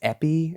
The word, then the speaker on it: épée: that I think it's Epi EP like a I think it's a French word right um the point